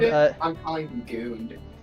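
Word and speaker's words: Guuunt: My name is Guunt.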